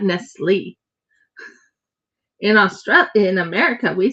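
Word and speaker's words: Nestlé: Cuz the E, the way the E is accented like the accented E in cafe.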